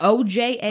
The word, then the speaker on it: Ojai: Is that close to, how do you pronounce, O-J-A-I? Ojai.